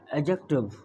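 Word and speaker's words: adjective: इसको आपको एडजेक्टिव नहीं पढ़ना है, इसको क्या पढ़ना है, एडजेक्टिव। यानी यहाँ पर जो डी है ना, इसको साइलेंट है, एडजेक्टिव।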